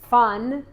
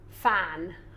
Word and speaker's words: fun: Uh, fun. Fan. Okay. Yeah. Fun is the U sound in English. The short U, which is up.